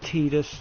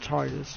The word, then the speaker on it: Tidus: And his name, well, some people pronounce it Tidus and some people pronounce it Tidus.